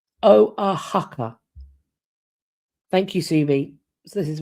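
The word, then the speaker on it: Oaxaca: Oh, it's pronounced sorry it is pronounced o a haka.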